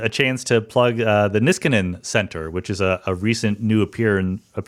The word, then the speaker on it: Niskanen: You pronounced it correctly in Finnish. It's a Finnish last name, but the guy we named it after pronounced it Niskanen. So it's the Niskanen Center.